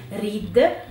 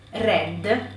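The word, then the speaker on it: read: verbo leggere facciamo attenzione reed red red come il colore quindi mi raccomando se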